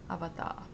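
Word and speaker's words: アバター: So avatar, they don't have a Japanese word, they just say avatar. That's the Japanese pronunciation, avatar.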